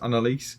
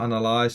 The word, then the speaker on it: Annalise: this year I believe it's pronounced Annalise not analyzed so Annalise and yeah